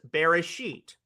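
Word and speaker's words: Bereshit: The Hebrew title of the first book of the Bible is Beresit, pronounced beracatious in the Ashkanazic tradition uh where the final to or the final T is often pronounced as an S.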